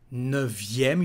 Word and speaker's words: neuvième: Neuf, neuvième. You remember that the letter F become a letter V, neuvième.